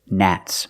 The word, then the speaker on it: gnat: fly very tiny and they all fly together gnats more than one I don't like gnats gnats are annoying let's practice what do you think do you think gnats are annoying that's right Nats are annoying and this word is gnarly gnarly